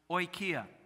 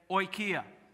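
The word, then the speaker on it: οἰκία: it's the greek word for home and it's pronounced oikia say oikia look at that i paid way too much for seminary you did that really well yeah oikia and that means what home it does mean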